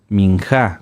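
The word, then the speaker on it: מנחה: oblación o de granos que se llaman minja minja con acento en la a sí las ofrendas de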